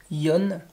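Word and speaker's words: Jon: en regardant la série se prononce en réalité à l'espagnol yon j'aurais beaucoup de mal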